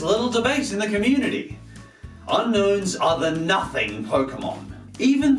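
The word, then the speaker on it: Unown: They're called Unknown because they're a mystery, I guess? Woo! Except it's spelled U-N-O-W-N.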